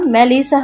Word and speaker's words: মেলিসা: চিৎকার করে আদনান বলে, এই মেলিচার বাচ্চা। ওটা মেলিচা না মেলিসা হবে।